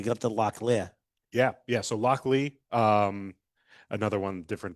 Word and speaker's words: Lochlea: So Lochlea, another one, different pronunciation. That's probably correct. Yeah. I've been wrong before. Ask my wife. Yeah. But the Scots give a really good hard H on this. Yeah. Lochlea.